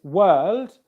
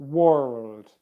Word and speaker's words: world: The key here is there's no R sound in world. It's world and not world.